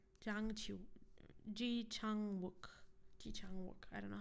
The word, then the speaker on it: Ji Chang-wook: dramas that have, I don't know how to pronounce his name, but the most paid actor in Korea. Wait, Jang Chi-wook. Jang Chi Ji Chang-wook.